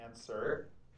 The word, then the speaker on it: answer: Oh, you pronounce it answer. Where did the W go?